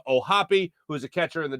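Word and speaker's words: O'Hoppe: then you also have logan o'happy yes that's how you pronounce his name ohapi who's a catcher in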